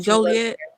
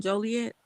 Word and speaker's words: Joliet: do you say it joliet let me say it right because they're trying to correct me and stuff you said it right but you know the people that live there say jolly yeah oh yeah that's